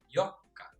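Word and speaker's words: よっか: Fourth day is Yokka. Yokka. So, mapapansin nyo yung double K or K at saka K ng Mikka at saka Yokka. Nilalagyan natin ng stress sa pagbigkas.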